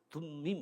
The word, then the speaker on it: 둠밈: 둠밈, 우리말로 둠밈이라고 해놓았는데 사실은 저는 히브리 말 그대로 읽으면 툼 이런 거예요.